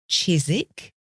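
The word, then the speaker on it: Chiswick: relevant because there's Grenich G re n wi chisik c i s wi K and dullage d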